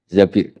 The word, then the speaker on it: Zabir: Abdurrahman Bin Zabir di di hadis ini bukan bacanya bukan Zubair tapi Zabir Abdurrahman Bin Zabir tapi